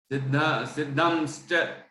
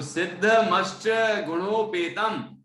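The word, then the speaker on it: सिद्धमष्टगुणोपेतम्: सिद्धम कैसे बोलेंगे, तो वो तो सही है ही नहीं। तो सिद्ध मष्ट गुणोपेतम निर्विकारम निरंजनम, इस तरह से हम इसका उच्चारण करेंगे।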